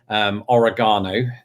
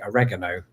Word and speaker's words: oregano: So, yes, my whole life, I've always pronounced this oregano.